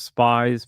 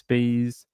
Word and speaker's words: Spees: her last name is Spees Spees yeah it's spelled weird and it's pronounced in that way I thought it was spies but apparently it's Spees um she's still missing